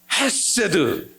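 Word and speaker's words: חסד: 저 아래에서 기관지에서 뜨거운 바람이 막 급히 올라오는 거예요. 그리고 목구멍을 확 긁고 나오는 소리 헤세드 이렇게 발음해야 되는 거예요.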